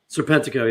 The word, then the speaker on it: Serpentico: Serpentico? Is that how you say it? Serpentico, yes.